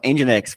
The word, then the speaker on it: NGINX: se fosse um motor específico motor poderoso então engex basicamente exatamente endex a palavra vamos falar ass então a pronúncia eu até falei errado no início não